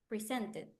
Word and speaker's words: presented: what do you think presented presented presented presented uhuh but in the first second or third the second third is the third one is presented present present because it finishes in t remember that the verbs that